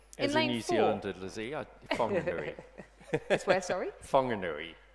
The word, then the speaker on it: Whanganui: Zealand I swear sorry whanganui whanganui yeah oh yeah um it was it it's one of those language things where we're actually learning to pronounce things as the indigenous people absolutely um in lane